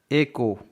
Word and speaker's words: echo: H के बाद O है इसलिए गाइज यहाँ पर ECO का उच्चारण हो रहा बट H का उच्चारण नहीं हो रहा क्योंकि H के बाद O है इसलिए H साइलेंट है.